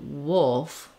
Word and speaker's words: wolf: specifics about that vowel then when I put it together with the L wolf wolf um it's it's another thing that can help is this word wool um because the word wool the word wolf is like wool plus an F so in the dictionary